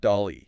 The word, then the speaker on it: DALL-E: How do you pronounce that? Dolly.